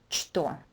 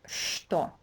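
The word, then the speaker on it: что: word is never pronounced store it's always pronounced store so something for you to memorize right away so in English this first sound would be equivalent to SH store Toyota just do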